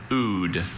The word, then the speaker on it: oud: Oud is the only pronunciation I have.